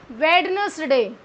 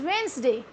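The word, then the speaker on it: Wednesday: It's grandson because D is silent here. Cut this. Okay. इन the same way हम बोलते हैं क्या वेडनेसडे, वेडनेसडे.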